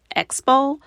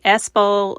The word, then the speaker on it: Expo: the words appropriately and when I hear her say espo instead of Expo I just want to